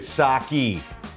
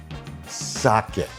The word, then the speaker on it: sake: tell people at this point you do not pronounce the saki sake say it with me Sake yes okay now